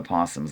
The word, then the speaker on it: opossum: first year of the possum's life is the most difficult yes i say possum that's what we call it here in pennsylvania even though it's spelled with an o and i wrote an